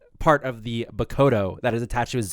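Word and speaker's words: Bakudō: is to use the Bakudo to create a new order. It's actually pronounced Bakodo, by the way. Bakodo.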